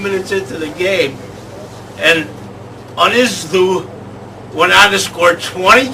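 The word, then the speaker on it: Ynysddu: Swalek Division 4, East Side, Unizdu, that's how you say it What? over there, Unizdu, RFC from Carefully, beat their Blenheim Gwent rivals, Blaina, by the astonishing scoreline of 134 to zip.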